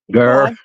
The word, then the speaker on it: Greer: It is spelled Greer, but the locals pronounce it Gurr.